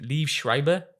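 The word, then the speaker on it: Liev Schreiber: And then um how do you pronounce his name? Leave Shriber.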